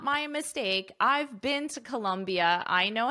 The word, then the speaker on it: Colombia: I've been to Colombia. I know how to spell it. Colombia is with an O, but the pronunciation is exactly the same.